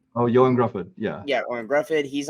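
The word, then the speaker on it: Ioan Gruffudd: I like him uh I'm gonna say his name wrong uh the original Mr Fantastic ion Gruff oh Yan Gruff yeah yeah ran Gruff he's on here um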